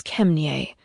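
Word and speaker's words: Ke mně: Kemnie is Czech for come, and pronounced as Kemnie.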